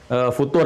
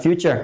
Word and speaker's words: futur: apa yang disebut dengan futur itu ya, yang sudah pernah kita bahas, bukan future, tapi futur. Gitu kan? Nah, jadi itu nggak usah di Inggris-Inggrisin, futur. Gitu ya. Jadi nggak usah bacanya future.